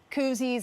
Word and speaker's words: koozie: But yet when a governor of a red state is making these cute koozies and T-shirts, it's something funny. He says cozy, I say koozie.